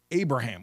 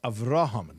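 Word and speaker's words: Avraham: So for instance, Abraham, what's Abraham? I don't even like it. It has the word Ham in it. The word is Araham.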